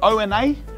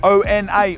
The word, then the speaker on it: Ona: Ona, Ona, however you pronounce it in Marrickville.